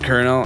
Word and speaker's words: colonel: It's pronounced colonel.